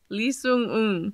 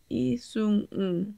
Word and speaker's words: Lee Sung-un: Lee Sung-un. That's close. Actually, it's not even close at all. Lee Sung-un. Lee Sung-un. Yeah, that's better. That the last syllable is really has to come from the guts.